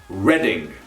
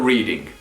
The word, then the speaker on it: Reading: up northern from london it is pronounced reading you've probably heard of the reading festivals that's where they take place reading not reading but reading number 13